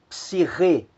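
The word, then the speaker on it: ψυχή: Nós temos ali a palavra psirrê, psirrê. Então note que a sílaba que soa mais forte é a última, psirrê, alma. Temos a palavra metá, metá.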